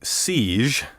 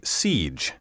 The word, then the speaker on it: siege: the problem here is the letter g which should sound like the g in cage and regiment not like the g in collage be careful to say siege refuge and refugee also